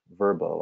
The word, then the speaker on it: Vrbo: that they owned vrbo or verbo i guess as they're pronouncing it now which strikes me as